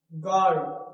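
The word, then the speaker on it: guard: तो यहां क्या होता है? गॉड। गॉड। तो यू क्या है? साइलेंट है।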